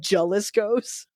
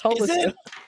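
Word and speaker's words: Jalisco: there's also Haliscoos, but people call it Jeliscos. And I'm like, no, it's Hisco.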